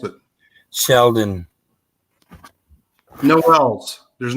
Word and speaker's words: Sheldon: it's all low case yeah Tom she is pronounce it Sheldon no vowels there's not an L on it